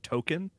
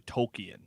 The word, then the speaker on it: Tolkien: episode with a character token the the he revealed that his name is actually Tolkien like spelled like the author and it had and